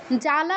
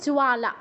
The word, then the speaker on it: জ্বালা: ভাবে বলতে হবে আচ্ছা জ্বালা উচ্চারণটা কিন্তু আমরা জ্বালা বলবো না বাংলায় জ্বালা বলি সংস্কৃতে কি হবে জোয়ালা জোয়ালা কারণ জ এর নিচে ও আছে কিন্তু জোয়ালা মুখে নখ